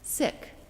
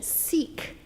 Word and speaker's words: Sikh: they'll call it siki it is pronounced sick like the English word not feeling well sick I think that's happened